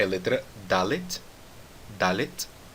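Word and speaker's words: דלת: Note mais uma vez que eu disse Dalet e não Dalet. Tá certo? Eu não estou adicionando nenhuma vogal aqui no final da palavra. A letra Dalet termina com um T, então nós terminamos com som de T sem colocar uma vogal.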